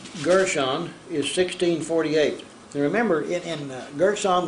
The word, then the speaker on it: Gershon: We're studying Gershon with a nun, or the N sound as opposed to the M sound at the end of the word.